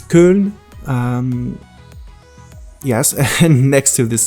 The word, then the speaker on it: Köln: It's located near, well, in French we call it Cologne, and in German it's Köln.